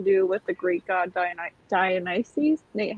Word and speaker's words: Dionysus: has something to do with the Greek god Dionysus. Nate, how do you say that? Dionysus. I think you got it right, Dionysus.